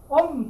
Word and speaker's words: Om: Om basically 이게 숨이요. 이게 숨돼요. 숨돼요. Om. The syllable Om gathers together three letters. A, U, Ma.